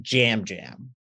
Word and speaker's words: Yam Yam: So his name is spelled Yam Yam, but they say it Jam Jam.